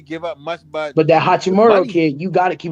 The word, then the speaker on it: Hachimura: Hachimura.